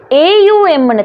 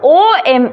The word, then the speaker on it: ஓம்: இது வந்து ஓஎம் இல்லை, இதை நீங்கள் வடிவாக நோட் பண்ணிக்கொள்ளுங்க. ஓஎம் இல்லை, ஏயுஎம். சர்டன் சவுண்ட்ஸ் இருக்குது, ஏ சவுண்ட், ஊ சவுண்ட், எம் சவுண்ட்.